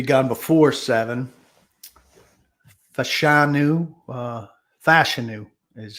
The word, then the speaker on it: Fashanu: alt could be gone before seven fashanu uh fashanu is how he pronounces it uh you know are his hands